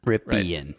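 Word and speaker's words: Rypien: If you're Brett Ripian, Ripian, definitely the right way to say it.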